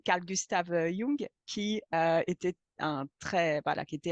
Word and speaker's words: Jung: partir de Jung, pardon, je vais le prononcer à l'allemande comme il faut et pas l'américaine parce que c'est pas du tout le même gars. Donc Carl Gustav Jung, qui était voilà, qui